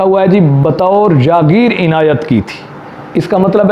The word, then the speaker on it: عنایت: کرنا یعنی بخش دینا، یہ لفظ عنایت ہے، ہمارے اکثر لوگ اس کو عنایت یعنی عین پر زبر کے ساتھ پڑھتے ہیں، جبکہ یہ صحیح لفظ صحیح تلفظ کے ساتھ عنایت ہے، عین کے نیچے زیر ہے۔ تحریری سند لفظ لکھا